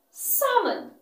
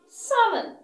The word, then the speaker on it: salmon: Salmon. Salmon. The letter L is silent.